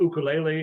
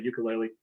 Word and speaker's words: ukulele: I have um a a ukulele is the correct way to pronounce it but it's actually people say ukulele and I have something